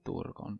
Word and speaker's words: Turgon: king of Gondolin, of Turgon. Or if I'm going to say it properly, Thorgon, but it just sounds pretentious when I say it like that.